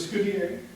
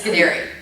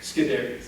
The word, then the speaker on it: Scuderi: With Scudier. Am I pronouncing that? No. No. Nobody does that. Okay, It's not on you. Well, It's Scuderi. Scuderi.